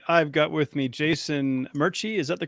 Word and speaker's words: Merchey: I've got with me Jason Murchie. Is that the correct pronunciation?